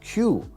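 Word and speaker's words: 九: second reason is because the pronunciation of three and nine in Japanese is sun and Q which sounds like sound cool that phonetic play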